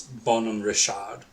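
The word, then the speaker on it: Bonhomme Richard: So in in French it's Bon Rashad poor Richard and so poor Richard's almanac.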